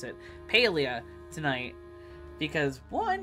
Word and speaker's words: Palia: uh sorry no Pia that's how the deaths pronounce it Pia tonight because one it's been a while since